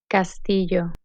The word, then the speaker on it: castillo: lamp ara limo Cena the Double L is pronounced year as in year Castillo cameo and me it's